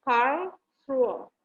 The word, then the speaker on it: Karlsruhe: Gitu bacanya, Karlsruhe.